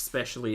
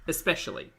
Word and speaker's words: especially: okay can we learn X specially is not the word especially especially I know this is over on a getting pronunciations from pulpy especially it's like espresso there's no X where I'm heartbroken sure